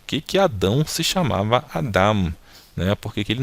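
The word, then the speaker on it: אדם: Lembrando que essa consoante aqui é muda, então a gente só pronuncia aqui a vogal embaixo. Então pronunciando fica Adam, ok?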